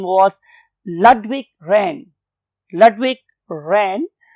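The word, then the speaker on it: Ludwig Rehn: doctor, his name was Ludwig Rahn. Ludwig Rahn, बहुत से लोग इसे लुडविग रैन भी बोलते हैं, बट दोनों प्रोनाउंसिएशन चल रही है।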